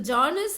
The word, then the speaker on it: genre: So genres of literature are important to learn about. So genres, so GENRES, so இதை எப்படி pronounce பண்ணணும்னா genre.